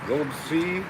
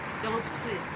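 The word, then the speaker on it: голубцы: Golubsi, Golubtsi. That's how you pronounce it.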